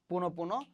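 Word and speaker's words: পুনঃপুনঃ: তাহলে আমাদের রুলসটা কি ছিল, উচ্চারণের রুলসটা শব্দের মাঝখানে বিসর্গ থাকলে বিসর্গের যে পরের বর্ণ সেটা কি হবে দ্বিত্ব উচ্চারিত হবে। পুনঃ পুনঃ তাহলে কি হবে পুনঃ পুনঃ, ঠিক আছে।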